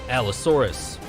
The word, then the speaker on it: Allosaurus: He just said it and you still pronounce it wrong. Allosaurus.